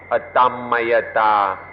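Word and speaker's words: atammayatā: at rest is called otama at an anti pronunciation we be Adam Maya da but the way it's written in English it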